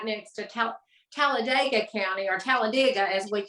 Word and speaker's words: Talladega: know I was pronouncing Talladega wrong most people say Talladega but people that are from there say Talladega like digging up something so that's where NASCAR